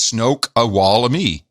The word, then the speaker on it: Snoqualmie: Then we have Snoqualmie Valley. Snoqualmie. Okay, it says Snoqualmie. That's a shitty pronunciation guide. That should be, it's SNO-K-WAL-me. That's not helpful. That's Snoqualmie.